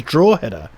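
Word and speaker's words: Drogheda: annoyed are saying that if I was phonetically pronounce it drug-drug header drug header Robert Ian says draw header hmm but Dennis Reynolds ago I'm going with Ian draw header I'm so sorry so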